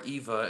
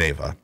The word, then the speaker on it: Eva Under Fire: are fall prey uh i'm calling it ava so you but they're like no it's eva it's eva under fire and that's how they pronounce it yeah they have a